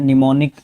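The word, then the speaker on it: mnemonic: Helping you to remember something, उसको निमोनिक बोलते हैं, निमोनिक बोला जाता है, प्रोनाउंसिएशन ध्यान रखना, एम साइलेंट रहता है।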